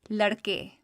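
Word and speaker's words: لڑکے: Next, we have the a sound at the end of the word, as in the word ladke, which means boys.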